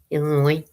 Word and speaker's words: Illinois: Illinois, I should say cuz you don't pronounce the S on the end.